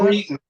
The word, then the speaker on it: Cretin: Cretin, how do you pronounce that? Cretin.